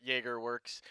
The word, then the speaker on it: Jagerworks: Jagerworks. Like Jägermeister.